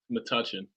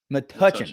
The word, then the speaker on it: Metuchen: Metuchen. Metuchen.